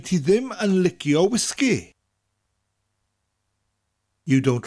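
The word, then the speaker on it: wisgi: the first is whiskey the only difference is we emphasize both syllables and bring out that gas sound whiskey whiskey next we have pop in the UK you call it soda in the u.s.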